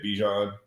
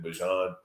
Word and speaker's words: Bijan: people I was like I say it bean but my mom pronounces it Bjon and then that just became like a huge thing man.